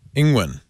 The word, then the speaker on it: Tsai Ing-wen: We will talk about Tsai Ing-wen, the president, not prime minister. You have Tsai a president. Ing-wen. Say it again. Tsai Ing-wen. Tsai Ing-wen. Ing-wen. Ing-wen. There you go. That's better.